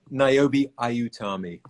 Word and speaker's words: Niobe Ayutami: Um, First, I want to ask you because I don't want to mispronounce. What's Niobe's whole name? Oh, Niobe Ayutami.